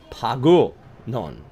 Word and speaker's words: Pangasinan: Shane says it's pronounced Pagusinon.